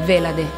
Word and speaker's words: Vhelade: si chiama così, inoltre è scritto VH e la De. E quindi tutti, sono, ogni volta che leggono il nome, sono un po', non sanno come pronunciarlo, perché non esistendo, insomma, non, nessuno può saperlo. Quindi è Velade, Velade.